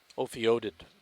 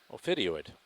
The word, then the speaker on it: ophidioid: Is that hard to pronounce fish again? Ophiodid. Ophiodoid. Ophiodoid. Ophiodoid, yeah. That's how you say it probably. Ophidioid.